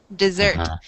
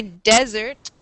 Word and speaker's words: dessert: day is chocolate cake notice the pronunciation of this word dessert the accent is on the second syllable dessert if you say if you say desert that is a different word in english and it is not something you eat yes yes nice job